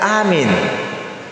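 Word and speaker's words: آمين: Jadi cara baca aminnya sama panjang. Amin. Begitu. Amin. Jangan, itu artinya apa? Kabulkanlah. Jangan salah satunya pendek atau dua-dua pendek.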